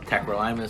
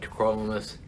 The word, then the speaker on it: tacrolimus: So some people call it tacrolimus, some call it tacrolimus.